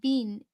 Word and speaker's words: been: her cultured Vasser voice pronouncing bin uh Bean to so it rhymed with scene she might have been